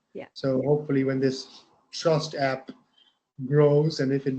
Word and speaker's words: TRVST: But then the app was called Trust, but it's spelled TRVST.